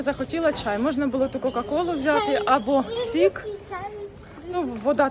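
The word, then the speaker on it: Coca-Cola: Тобто можна було взяти кока-колу у меня є дома сосасола вочку А дома є кока-кола ні Нет Мама ты Неправильно говоришь Соса соло Толя ну аж так не читається но всё равно Соса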